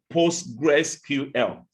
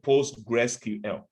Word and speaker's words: PostgreSQL: you're talking about but if you want to pronounce it in full you say postgresql then we have ms